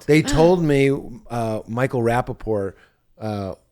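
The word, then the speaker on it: Rapaport: Cuz if you say it wrong, they told me uh Michael Rapapore. Uh I I don't say the T's. Just a classy name. Rapapore. You know what I mean? Don't say that T.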